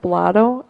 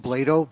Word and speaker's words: Blado: Okay, Blotto, and then on deck, Morgan Butler. It's pronounced Blado, B-L-A-D-O.